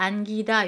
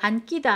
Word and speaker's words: 안기다: 안다 안기다 요거 안끼다 아니에요.